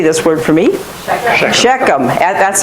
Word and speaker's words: Shechem: That's how they pronounce it, Shechem. It's a one-syllable word, Shechem. Okay? Not Shechem. Let me show you, you're an English speaker if you say Shechem.